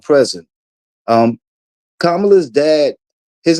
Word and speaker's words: Kamala: well let me start with kamala's name it's kamla it's not Kamala you guys um just just like Pamela is kamla like you wouldn't say pamala you know so some